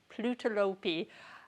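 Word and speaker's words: Plötulopi: Plutolopi. Every time I try and pronounce on my own, I end up with plutolopi.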